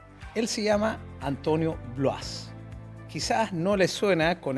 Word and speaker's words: Bloise: Bueno, es curioso escuchar la pronunciación del apellido, el apellido Bloise, quizás de origen francés. Hace 200 años probablemente en Francia le decían Blois, pero nuestra familia migra a toda Italia y en Italia es un apellido bastante común